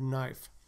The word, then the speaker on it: knife: because they know that there's no k sound at the beginning of the word knife so they tend to